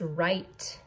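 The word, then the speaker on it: write: Number four, our word is right. How would you spell right? W-R-I-T-E. Remember, W-R makes the R sound, like in wreath.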